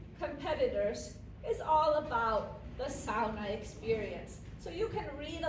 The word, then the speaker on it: sauna: And, how many of you have actually experienced a Finnish sauna? So I'm saying sauna. A lot of Americans know it as sauna.